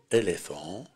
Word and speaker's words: éléphant: Règle de lecture et de prononciation de la combinaison de lettres PH. Le son F. Буквосочетание PH, звук F. Phobie. Une phobie. La phobie. Phobie. Éléphant.